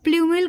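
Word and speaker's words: plumule: बनता है उसको हम लोग कहते हैं भाई पलमल कहते हैं और इसका मैं स्पेलिंग लिखूं तो पी एल यू एम यू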